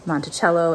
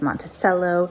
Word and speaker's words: Monticello: You would expect Monticello to be pronounced Monticello, and it's Monticello.